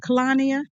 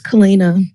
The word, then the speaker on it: Kalina: Just real quick before you close the room, am I pronouncing it right? How is it, Kalania? It's Kalina. So Kalina, I'm sorry.